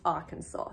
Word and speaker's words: Arkansas: you say Arkansas Arkansas it smells like it might be our Kansas but it's actually pronounced Arkansas so the first one